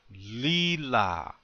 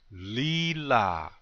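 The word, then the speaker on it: líla: Accent on the first syllable. Lila. One more time. Lila.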